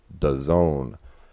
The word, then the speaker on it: DAZN: service and days it's Daz and that streaming service now technically they tell us it's supposed to be pronounced does zone but I have a